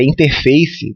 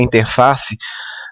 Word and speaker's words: interface: fazendo um gancho aqui a maneira correta de falar interface tá brasileiro costuma falar interface mas a palavra ela vem do inglês tá então a pronúncia correta é interface então o mesmoa o